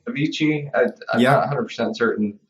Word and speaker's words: Avicii: oh yes is that is that how you pronounce the name Avicii uh yeah 100 certain like that's how I've